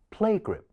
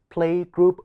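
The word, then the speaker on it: playgroup: 多一次 play group play group 千祈唔好讀成 playg group wall 如果咁樣讀嘅話，兩個音都會讀成慣呢，俾個提示大家讀 playg 呢一個字嘅時候，集中注意力喺第一個音，而第二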